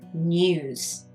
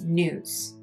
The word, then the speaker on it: news: For a British person, we would say news with a Y news. With an American accent, it's news. News. They don't have the Y sound.